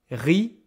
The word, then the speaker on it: riche: This is not rich. Okay, there's no ch. This is riche. This sh is a passive sound in French. Okay, like in English you will say rich.